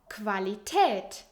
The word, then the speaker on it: Qualität: And Q, U is actually pronounced as Kv most of the times. I know, this one is actually really funny. For example, Quelle, Sauce, Quittung, Receipt, Qualität, Quality.